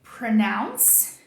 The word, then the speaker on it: pronounce: Aonde que o português vai trair a gente aqui? Vamos lá. A gente fala pronúncia e pronunciar, né? Então, to pronounce é pronunciar. Ou seja, a gente tem um som de U no português. Pronunciar. O português vai fazer a gente querer falar um som de U aqui também.